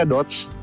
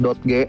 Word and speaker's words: Dodge: bacanya dodge. Ada juga yang bilang dotg. Dulu engkong gua bilangnya dotg.